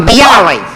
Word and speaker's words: bialy: Is that the way you pronounce it? A bialy.